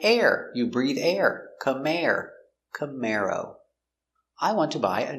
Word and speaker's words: Camaro: khmer oh camaro camaro stress on the second syllable camaro camaro chevy makes